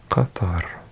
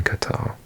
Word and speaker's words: Qatar: pronounce it Qatar, but in Qatar, this Q sound is actually pronounced as a G. So in Qatar, Qataris pronounce their own country as Qatar, or Qatar, with a T sound. Qatar. Sounds a bit more like a guitar, like the musical instrument.